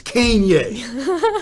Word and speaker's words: Kanye: saying post affected boys never said this name right to begin with it's Kanye you know it's like geez if you're gonna say your name say it right it's Kanye West okay interesting I think